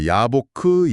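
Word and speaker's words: יַבֹּק: 야복은 히브리어로 야보크입니다. 그리고 야곱은 야코브죠. 어, 야보크.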